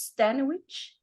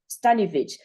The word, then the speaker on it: Stanovich: do you pronounce it how do you pronounce your last name sunny studies oh Stanley yes okay okay so it's a okay stanovich so yes you'll see